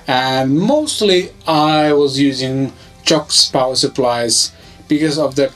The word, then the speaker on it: Cioks: Finns would call it CIOKS, but apparently that's how you pronounce it, so CIOKS.